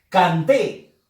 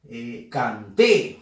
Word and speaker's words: canté: Canté. También. Sílaba que lleva fuerza de voz es la sílaba T y es la última. Canté. Fuerza de voz T.